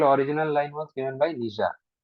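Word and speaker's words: Nietzsche: line was given by निजा ना भी बहुत अद्भुत ना प्रोनाउंस निजा किसी लोग नीश बोली पढ़ा निजा निजा had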